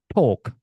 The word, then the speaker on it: talk: Talk, talk, talk, talk. Talking to you now. Talking to me. Who do you talk to? Lihat, enggak ada L-nya semua, Teman-teman.